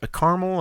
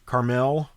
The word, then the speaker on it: caramel: been interesting for me sometimes i say yeah carmel and carmel different people pronounce it different ways well it depends if